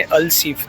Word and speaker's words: Al Seef: तो अगर मैंने पहले नाम गलत प्रोनाउंस कर दिया हो तो सॉरी, बिकॉज यहाँ का नाम है अल-सीफ, नॉट अल-सूक।